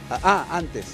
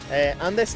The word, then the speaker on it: antes: Antes. ¿Andes? Andes no. Ahora sí.